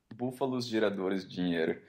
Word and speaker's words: Búfalos Geradores Dinheiro: How do you say it? How's it meant to be said? Búfalos Geradores Dinheiro.